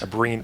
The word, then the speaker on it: Abrines: Can we get the correct pronunciation of your last name, please? Yeah, Abrines. Abrines. Is that with a kind S, of a like what? Kind of like an SH at the end?